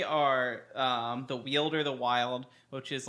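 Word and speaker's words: Wyld: Wild. I think that's how that's supposed to be pronounced. Oh, is it? I've always pronounced it Weald. No, I'm pretty sure that's wild I mean, this is a fucking fantasy game. Pronounce shit however the fuck you want. It's, you know, like when people spell vampire with a Y, it's literally wild with a Y instead of an I.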